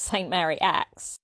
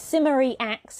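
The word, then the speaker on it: St Mary Axe: of low class so maybe this was a working-class way of pronouncing the street name and certainly today no one will mind if you call it Saint Mary acts but yes simmery acts as a traditional pronunciation and that's the one I use British place names are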